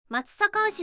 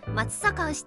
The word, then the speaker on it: 松阪牛: ていますがその正しい読み方について間違った情報が広まっています実際には松坂牛という読み方が正しいのですこのよう